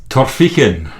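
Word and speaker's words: Torphichen: Torphic Torphin which is near Lithco I believe.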